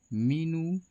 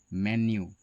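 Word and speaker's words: menu: जिसको हम लोग अक्सर मीनू कहते हैं। है ना? या कई बार उसे मेनू भी कह देते हैं। आपको पता है यह दोनों गलत ही उच्चारण है। इसका सही उच्चारण होता है मेन्यू।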